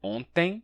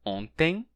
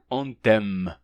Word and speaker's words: ontem: Ontem, com EM, a gente pronuncia ontem, e pólen acaba com EN e é pólen. Não se pronuncia ontem. Pólen. Né? Você não vai tocar o M no ontem.